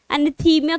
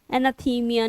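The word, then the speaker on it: anathema: एनाथीमिया करते थे। एनाथीमिया मतलब उनको श्राप देते थे। एनाथीमा, एनाथीमा, एनाथीमिया नहीं, एनाथीमा।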